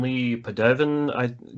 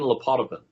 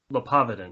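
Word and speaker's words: Le Poidevin: I'm going to mispronounce his name, but Robin Lee Padevin gives what he called a modal atheistic argument. Yeah. Or something similar to that. Robin where he says, say again? His name is Robin Lepotovin.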